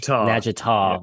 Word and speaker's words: Natchitoches: Natchitoches. Yeah. I know, we butchered that so many times.